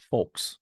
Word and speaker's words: folks: Night Live folks oh it's hard for me to say it with the L and I usually like to pronounce every single letter in a word uh but folks I feel like is my way way of saying it you gotta read it